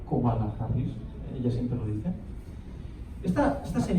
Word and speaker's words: Kamala Harris: Por ejemplo, la que más me gusta a mí es Kamala Harris, perdón, se pronuncia Kamala Harris, ella siempre lo dice.